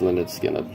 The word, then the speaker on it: Lynyrd Skynyrd: We have Lynyrd Skynyrd, pronounced Lynyrd Skynyrd.